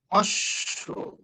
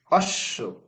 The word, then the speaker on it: অশ্ব: অশ্ব। অশ্ব।